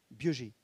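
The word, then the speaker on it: Biogée: Ça s'écrit B-I-O-G-E-E, Biogé.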